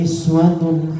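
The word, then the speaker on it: أسوة: lakum fi rasulillahi uswatun, boten uswah, boten rafa, pakai doma tapi iswah bacanya. Boleh jenengan mau baca laqad kana lakum fi rasulillahi iswatun hasanah, itu boleh.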